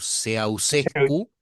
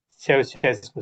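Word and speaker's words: Ceaușescu: porque estudió rumano y me dijo cómo se pronuncia y yo me olvidé. Obviamente el que vemos en la foto, como dice Rey, como dice Servino, es Nicolae, eh Kuchescu, Chuchescu, Seausescu. Seusescu, exactamente. Ahí va.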